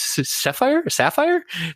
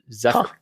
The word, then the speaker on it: Zephyr: What is Sapphire? No, Zephyr. Zephyr. So yeah. I think that's the right pronunciation for the PHYR. Fire? Yeah. Huh. Like Fire Festival? FYRE. But we say Zephyr. At least we don't say Zedfer.